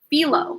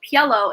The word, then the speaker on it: Piello: I was calling Philo instead, because I was reading it phonetically. And I'm glad that you told me it was actually Piello, and I think you